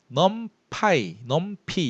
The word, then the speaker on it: NumPy: 뭐 그런 자료형이었는데 비슷한 걸로 numpy 이렇게 발음하는데 이건 외부 라이브러리입니다.